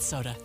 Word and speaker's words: SOTA: It's spelled SOTA, and it stands for State of the Art.